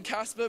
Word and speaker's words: Caspar: Just my name, Casper, but it's spelled Caspar.